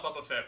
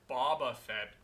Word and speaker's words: Boba Fett: last i saw a bubba fett was sorry boba fett people kept telling me i'm pronouncing it wrong last i saw a